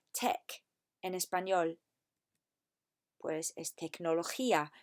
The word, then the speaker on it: tecnología: Pues es tecnología. Remember, say the G as a H.